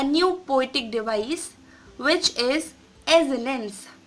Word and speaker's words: assonance: Poetic device which is एजोनेंस। कई लोग इसे एसोनेंस पढ़ते हैं लेकिन इसको एसोनेंस नहीं पढ़ते। The correct pronunciation of this poetic device is एजोनेंस।